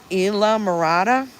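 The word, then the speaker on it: Islamorada: And you don't pronounce the S? Isla Morada?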